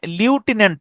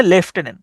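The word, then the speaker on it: lieutenant: এটার উচ্চারণটা কিন্তু হচ্ছে লিউটেন্যান্ট না, এটা উচ্চারণটা হচ্ছে লেফটেন্যান্ট।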